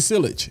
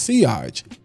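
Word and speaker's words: sillage: It's got crazy silage." No, it's actually pronounced seage.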